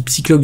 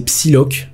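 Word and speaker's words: Psylocke: Alors la seule différence du coup avec le personnage de de je dis Psychlock depuis le début mais c'est Psyloc.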